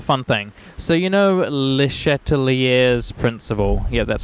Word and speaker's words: Le Chatelier: So you know Le Chatelier's principle.